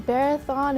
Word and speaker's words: Bharathan: He came down walking in that big auditorium in Wyan saying, my name is Barathon, it rhymes with marathon.